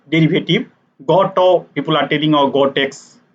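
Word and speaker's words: Gateaux: derivative that is called Gotex derivative. Goto, people are telling, or Gotex. If you see the name, then that looks like Gotex, but Goto, people are actually pronouncing that.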